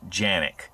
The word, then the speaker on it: Canik: this test and review in Turkey Kanak is actually pronounced Janek the Turks also pronounce their country Turkey so we're gonna go with canning because that's the US version guys like I've said